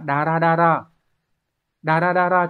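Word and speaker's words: だらだら: Câu số 2 đọc là dara dara, chúng ta sẽ mang nghĩa là tong tong, thoai thoải hoặc là lê thê.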